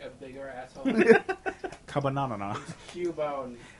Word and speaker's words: Cubone: Thank you for sending us Cubbonay, but you're can send you us something better. It like an asshole? I'm sorry, Cubbonay. Can you not pronounce it like a bigger asshole? Cubbonanana. Cubone. Get it correct.